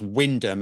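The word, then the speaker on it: Wymondham: And all I could find was something on this local apparently pronounced Windham and Hattle and Mercury that were reporting on it.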